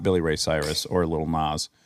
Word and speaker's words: Lil Nas: Now we've transitioned into Will Smith, not Billy Ray Cyrus or Lil Nas. Little Nas.